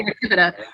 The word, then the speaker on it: Ratibida: I like to say Ratibida. Of course, with Latin, you can pronounce it however you want, but sure. Ratibida seems to flow off the tongue.